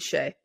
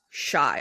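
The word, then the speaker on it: Shai: Second, I have Dame and Shea.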